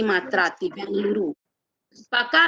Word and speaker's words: बेंगलुरु: कर्नाटक और बंगलुरु, जबकि हम बोलते हैं क्या, बेंगलोर, है ना? बेंगलोर बोलते हैं, और जबकि इसका नाम जो होता है बेंगलुरु, है ना?